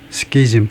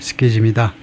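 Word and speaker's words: schism: 그냥 스케이즘 발음은 스케즘이다.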